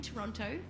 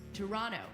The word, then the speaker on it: Toronto: first live show in Toronto for the hot dogs podcast Festival on November the 19th so go to Toronto have a visit Toronto sorry I meant Toronto you don't pronounce the T learning thanks to everyone